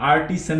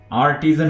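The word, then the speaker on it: artisan: आर्टिजन, आर्टिजन, इसको आप आर्टिसन नहीं पढ़ेंगे, आर्टिजन पढ़ेंगे। आर्टिजन, आर्टिजन होता है दस्तकार।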